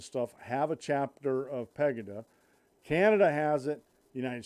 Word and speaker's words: Pegida: PEGI da pagai de pegida and my how to pronounce that's pronounced pegida but it's a german movement now the lamestream media